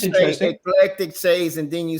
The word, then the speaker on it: Eclectic Shades: Like people who does say electric shades. There's a website called Electric Shades, and it is like lamps and stuff. Oh my God. And so I'm going to pronounce Eclectic Shades.